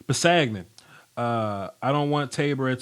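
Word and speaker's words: Kpassagnon: Pasagnan, that's his name. The K is silent. Pasagnan.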